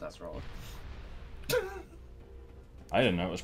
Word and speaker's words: Acerola: Yeah, it's pronounced Acerola.